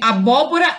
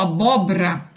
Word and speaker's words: abóbora: janeiro passou mal né é a pronúncia de nomes proparoxítonas como se fosse o paroxismo como por exemplo a invés de abóbora muitas pessoas falam abóbora a invés de ficar